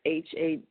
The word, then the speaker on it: Hajek: Hayak or something like that. Wait, okay, Laura Hajik or Hajik. It's Hajek.